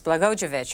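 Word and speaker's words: Blagojevich: the next couple days it's bogovich I think is how it's pronounced Craig Benson a republican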